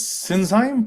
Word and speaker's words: Sinsheim: It's me, Peter Renins from Sinsheim. Yes. All right. How do you pronounce it again?